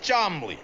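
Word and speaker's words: Cholmondeley: daddy and this is my uncle chamali pronounced charmly hi I'm Rocky and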